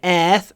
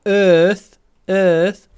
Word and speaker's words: earth: Это не earth. Это не earth. А earth.